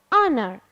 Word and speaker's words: honor: pronunciation pronunciation letter h letter H in some words becomes becomes silent I don't pronounce h in these words like what H here will be silent letter when why our honest honor so H here will